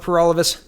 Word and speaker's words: Peralvis: Again, my name is Peralvis. That rhymes with For All of Us, and I'm the People's Party candidate for October federal election.